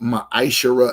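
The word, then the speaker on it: מעשר: It's pronounced maisher in the Hebrew.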